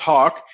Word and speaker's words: HOC: M&M now hawk or hoc this is pronounced hawk stands for homeownership center